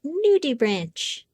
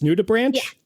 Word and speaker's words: nudibranch: a history nut but it is the word nudie branch nudibranch it is an animal we have not